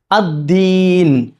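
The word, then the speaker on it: الدين: ഇതാണ് നമ്മൾ പറയുന്നത് മാലിക്ദീൻ അദീൻ അദീൻ അത് പലപ്പോഴും തെറ്റിയിട്ട് തായി ദീൻ പറയാറുണ്ട് പല ആളുകളും മാലിക് ദീൻ ആയി പോകാറുണ്ട് ദീനാണ് ദാലാണ് ദാൽ ദാൽ ഉച്ചരിക്കേണ്ടത് എവിടെ നാവിന്റെ അറ്റം നാവിന്റെ തുമ്പുവശം എവിടെ തട്ടണം മുകളിൽ പല്ലിന്റെ എന്താണ് മുളച്ചു വരുന്ന ഭാഗത്ത് തട്ടണം ദാൽ ആ ഒരു എൻഡി ഉണ്ടല്ലോ പല്ലിന്റെ എൻ് അവിടെ തട്ടണം ദാൽദാൽ മാലിമിദീൻ മാലി യൗമിദീൻ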